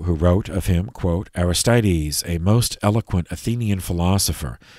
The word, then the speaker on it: Aristides: philosopher who converted to christianity uh this is aristides machianus aristides or aristides of saint saint aristides of athens that's spelled a r i s t i d